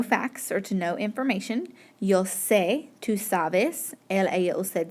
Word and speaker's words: sé: like normal, and so they say yo sabo. Yeah, but that word does not exist. That is not a Spanish word. The yo of the verb saber is yo sé, and it has an accent on the top.